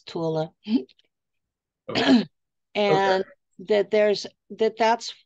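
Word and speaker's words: Thule: island that they call Tula t-h-u-l-e and that is the right way to say it is Tula and that there's that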